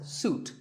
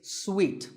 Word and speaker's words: suite: second syllable so hotel a related word is sweet this means a set of connected rooms in a hotel and this is wrongly pronounced by many people as suit but it's sweet like when you eat